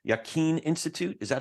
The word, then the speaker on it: Yaqeen: And correct me if I don't pronounce this right. Yaqeen Institute, is that how you say it?